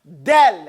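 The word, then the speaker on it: دال: What he's doing now is describing to you in detail exactly how to pronounce the letter del.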